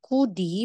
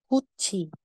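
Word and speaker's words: 굳이: kudi kudi Sorry kudi so si diot followed po siya ng e na vowel so magiging J so aside na sasabihin mong kudi magiging kuchi kuchi so kachi and kuchi So yan lang po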